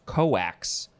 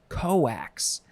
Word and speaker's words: cokes: there next is so this one is spelled the same way cokes but it is pronounced coax coax uh so this is